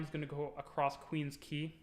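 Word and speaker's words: Queens Quay: going to go across queen's key that's how it's pronounced not queen's quay um and it's gonna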